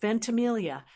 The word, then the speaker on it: Ventimiglia: Now for the tricky part, Ventamelia. It's pronounced venti.